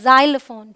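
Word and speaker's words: xylophone: sound आया examine यहां इसे हम बोलते हैं जाइलोफोन ठीक है ज जाइल ओके और इसे हम एग्जिट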